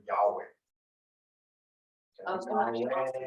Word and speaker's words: Yahweh: So Jehovah's actual name, Jehovah is the English pronunciation of the Hebrew word Yahweh.